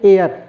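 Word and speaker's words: heir: Same way एयर, AEIR, एयर, एयर means क्या होता है भाई, नहीं पता है, सोचो सोचो, पता होगा यार, नहीं पता है।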